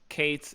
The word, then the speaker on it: k8s: kubernetes Kate's is uh Kate's is uh kubernet let's just uh common uh shorthand for kubernetes uh because kubernetes is too long it's too many syllables so Kate's single syllable is uh the easy way to say it that's when you see